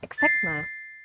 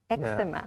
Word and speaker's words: eczema: And there's some medical terms like asthma or eczema. That's Yeah. kind of hard word too. They're quite difficult to pronounce. Yeah, asthma. There's the H is silent in that word, and then eczema. Eczema.